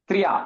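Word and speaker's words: त्र्यधीशे: सुनाभायुधमापतन्तम् मन्ये सुरान् भागवतां त्रयदीशे त्रयदीशे அந்த யாத் ப்ரொனவுன்ஸ் பண்ண வேண்டாமா? யா வரும், but it's like triya. You don't have to say tha ya, like triya.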